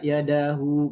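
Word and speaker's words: يده: Kalau dia kita wakof di situ maka tetap bacanya adalah dengan mensukunkannya. Wa naza'a yadah, wa naza'a yadah, begitu.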